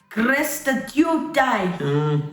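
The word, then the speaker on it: χρηστεύεται: Pronounce it. You can't even see it. chrēsteuetai.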